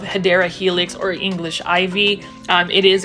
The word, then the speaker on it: Hedera helix: I really appreciate you dropping all of those Hydra Helix comments. And for those who don't know what Hydra Helix is, that is really mispronunciation of Hedera helix or English ivy.